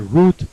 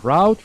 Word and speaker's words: route: To cut across means to make a shorter route or route. Remember this, there are 2 pronunciations. You can pronounce this word route or route. Route is the British, route is the American pronunciation.